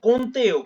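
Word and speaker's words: কৌন্তেয়: মাত্রায় কন্তে কন্তে কুন্তিয় কুন্তিয় না কন্তেও কন্তেও কন কোন আমার নাম হচ্ছে কৌ কুন ক্যাতেওয়তে আপনাদের কৌট বাড়িতে কৌট থাকে না কৌট হ্যা কৌটো বলুন কন্তেও কে পরের জন আসুন সুখ দুঃখ কোন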